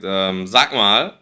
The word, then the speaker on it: sag mal: Okay, ja, er sagt, sag mal, hast du ein Handy? Hier auch wieder hört ihr das Wort sag mal. Er sagt, sag mal, ja. Auch wieder die Aussprache G als CH, wie vorher auch, ja.